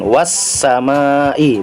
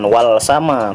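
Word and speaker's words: والسماء: yang huruf Sin ya karena dia huruf Syamsiah make langsung dimasukkan wash sama Ih bukan walsama tapi wash sama ih itulah dia alif lam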